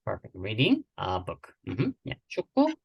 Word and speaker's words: 축구: 촌고 K sound at the end when you see this 받침. 축구.